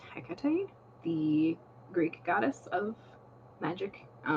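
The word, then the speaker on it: Hecate: in between her and I think it's pronounced NACA tight the Greek goddess of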